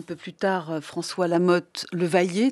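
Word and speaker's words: Le Vayer: plus tard, François Lamotte, le vailler, dont j'ai appris à bien prononcer maintenant. Je disais toujours le vaillère.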